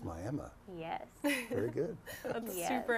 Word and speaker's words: Miami: And folks in Oklahoma, it's not Miami, it's Miami.